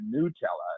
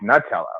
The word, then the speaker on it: Nutella: the ladder but not if you're calling it Nella it's it's Nutella like uh you know you've got to get the phonetic pronunciation right who calls it it's it's not